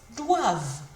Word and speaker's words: doivent: V in it, and remember the ENT is silent, so it sounds like this. Doivent.